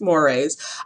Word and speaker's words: mores: And mores, I know it's spelled moores, but it's pronounced mores.